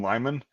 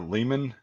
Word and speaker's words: Lyman: __ ] Lyman Li okay so I was right it's like it's like the reloading equipment Lyman scales right that's what I was